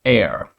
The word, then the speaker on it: eir: And then there's E-I-R, which is pronounced like air, air.